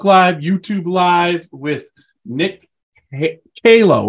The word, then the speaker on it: Calo: live uh Facebook live YouTube live with Nick HALO right that's what it is not calo calo right he sent me the pronunciation I appreciate that because I am known